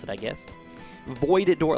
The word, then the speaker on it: Voidora: Voidora, like the void, like you're entering the void.